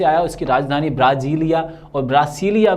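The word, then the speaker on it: Brasília: अब एक और बात इसके ध्यान रखने, कैपिटल वो ब्राज़ीलिया भी बोल देते हैं कई लोग, इसको प्रोनाउंसिएशन में गड़बड़ करते हैं, और कई लोग इसे ब्रासीलिया भी बोल देते हैं।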